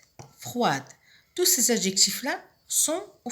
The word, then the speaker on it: froid: Froide au féminin, froid au masculin. On trouve ici la lettre finale muette, c'est le D, qui ne se prononce pas au masculin, mais que l'on trouve au féminin qui se prononce.